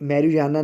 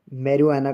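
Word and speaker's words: marijuana: मत पियो मेरवाना गांजा देखिए जहां पर जो जे है वो साइलेंट रहेगी इसे मेरियाना नहीं कहेंगे मेरिना कहेंगे सेंटेंस है ही स्मोक द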